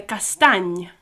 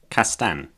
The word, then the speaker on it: castany: castany castany It's got that weird ny end. The sound at the end is like ny again, a bit like the Spanish the enye, but it's a ny. So, castany.